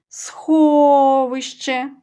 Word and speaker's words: сховище: протягуємо і є наголошений сховище протягували о наголошений звук О а склад сховище ставимо наголос наступне слово будинок кличемо